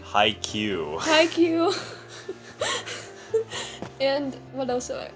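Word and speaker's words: Haikyuu: watching toradora i'm watching hayekah did i pronounce it hi no volleyball animation hi q thank you and what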